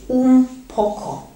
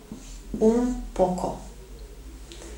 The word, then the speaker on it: un poco: Итак, очень часто наше слово встречается в выражении «un poco». «Un poco». Для красоты, видимо, речи, испанцы здесь произносят «м».